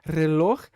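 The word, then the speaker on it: reloj: então essa palavra el relor el relor vai então vai ser essa pronúncia ele acertou a pronúncia do R do J né os brasileiros vão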